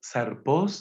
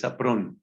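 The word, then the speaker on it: σαπρός: de fruto malo listo zarpó No es simplemente fruto malo es un modo particular de fruto malo es un modo particular de fruto malo sapr yo estado pronunciando zarp y es sapr saón sapr es Es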